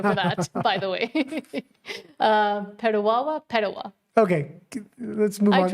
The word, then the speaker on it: Petawawa: Jesse DB says, I was in Petawawa. Petawawa? Yeah. I think it's Petawawa. But it has two W's. Okay, Petawawa. Petawawa or Petawa?